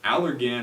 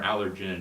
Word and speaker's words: Allergan: couple things number one you have allergan or allergen depending on who you ask phonetically buying a company that's